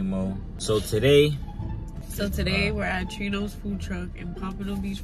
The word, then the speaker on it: Trino: So today we're at Trino's food truck in Pompano Beach, Florida. TRINO. Don't be coming in here pronouncing it Americanized. They're Venezuelan. We respect them. TRINO.